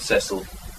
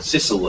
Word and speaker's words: Cecil: Salisbury as he became, Robert Cecil, or Cecil as posh people pronounce him, asked for a portrait